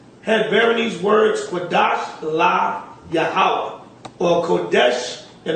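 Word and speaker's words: Qadash: Right here, where it says, had bearing these words, Kodash La Yahweh, or Kodesh in the modern Li Yehovah. Now, Kodesh is supposed to be Kodash in the ancient.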